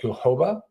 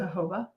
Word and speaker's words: jojoba: The organic jojoba, is that how you pronounce it? Jojoba. According to Google. But it's J-O-J. The J-O-J-O-B-A. Yeah. Jojoba. So I used to always just call it jojoba oil. So sorry for butchering that for those of you out there, and maybe you can help us correct it. But we did use Google speech to tell us how to say it on the way here.